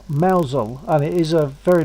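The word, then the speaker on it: Mousehole: there's a place called Mousel that's written. It's in It's Cromwell. Spelled. It's spelled as mouse hole, but it's pronounced Mousel, and it is a very nice little place in Cornwall.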